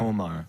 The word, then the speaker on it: Omar: oh my how you say her name Omar Omar Omar yeah kept them out of Israel because they